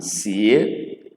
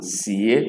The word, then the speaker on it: sie: We move on to s, or si as in sie, si as in sie, which means cook, as we cook food, sie.